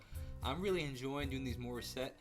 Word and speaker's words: Morissette: really enjoying doing these more set or maurice actually i think if i've heard her pronounce it a reaction breakdown she's